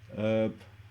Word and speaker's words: herb: not f so none herb silent h okay i think it